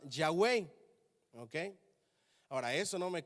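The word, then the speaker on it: Yahweh: google ya a mí me dijeron que ese te tragamos tetra grama ton se pronunciaba ya way ok ahora eso no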